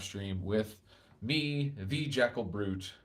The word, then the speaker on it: Bruit: This morning meditation live stream with me, the Jackal Bruit, that is fruit spelled with a B, not like a brutish monster, has come to an end.